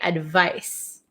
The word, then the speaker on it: advice: Advice has an S sound, but it's spelled with a C. Advise has a Z sound, but spelled with an S.